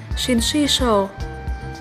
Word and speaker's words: syncytial: Từ số 11, chúng ta có tính từ là syncytial. Nhấn âm 2, tính từ này có nghĩa là thuộc thể nguyên hình hoặc hợp bào hoặc hỗn bào trong sinh học.